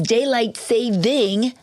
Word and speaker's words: daylight saving: It's the end of daylight saving time, and that's daylight saving without the S. I've been saying it wrong all these years.